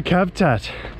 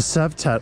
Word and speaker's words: Cavtat: Welcome to Cavtat. Well, Cavtat, I think they pronounce it.